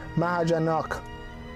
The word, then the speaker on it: Mahajanak: You guys were telling me it's not Mahajanaka, it's Mahajanak. So Mahajanak.